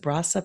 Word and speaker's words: Brasa: had uh within your um How do you pronounce it Brasa Peruvian kitchen you got it right the first